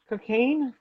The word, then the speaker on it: Cocagne: Cocaine. Cocagne, which seems to be pronounced cocaine, but like in a very like perfume, a cologne kind of spelling.